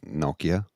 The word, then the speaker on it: Nokia: Okay, so in North America we would say What's Nokia, Kia? but it's actually pronounced Nokia, Yes.